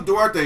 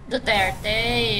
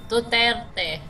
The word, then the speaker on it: Duterte: Duterte. There's, like, a rolling of an R in there somewhere that I can't do.